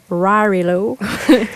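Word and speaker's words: Warrillow: Donc, c'est Build to Sell de John Rarillo.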